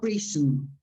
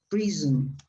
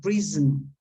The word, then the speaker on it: prison: Basic and prison, not prison, prison. When you have the S between two vowels, it's pronounced like a Z, como un zumbido de abeja, prison.